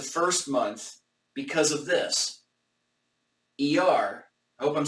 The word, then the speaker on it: Iyar: ER, I hope I'm saying that properly. ER, IR, not just, in English it's spelled IYAR, but I think it's pronounced ER.